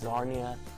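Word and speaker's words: Czarnia: Narnia oh boy but it's darn you don't pronounce the see it's sarnia zarni huh it started and yeah the man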